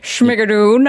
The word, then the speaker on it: Schmigadoon: And now you have Schmigadoon. Is that the pronunciation? Schmigadoon.